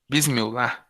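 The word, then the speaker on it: بسم الله: Mas se pronuncia Abismillah, né? Bismillah.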